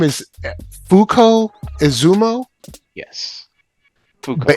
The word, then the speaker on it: Fuko: uh her name is Fuko is Zumo yes fuk but it's like a it's like a long it's like they pronounce the U long so like Fuko but Fuko AKA unluck we can